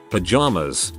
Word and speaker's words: Pajamas: Pajamas. Emphasis on first syllable.